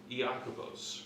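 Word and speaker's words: Ἰάκωβος: the book of Jacob yakos for those of you who really want to know how it's pronounced in Greek um now what's interesting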